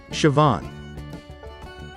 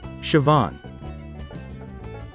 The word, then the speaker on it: Siobhan: we're going to learn on how to pronounce this name siobhan let's repeat siobhan once again siobhan how exactly do we pronounce this name imogen